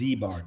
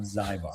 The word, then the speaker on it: Ziebart: It's Ziebart not Zybar.